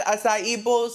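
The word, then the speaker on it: açaí: I've had Asai many a times and I know you're probably shocked that I'm pronouncing it correctly.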